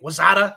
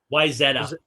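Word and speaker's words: Wayzata: and on uh on Lake Minnetonka and Lake Wazada. Is that how you pronounce it? Wisetta.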